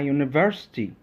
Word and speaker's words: university: dog a house a university the start of the word university sounds like you a consonant sound and is used when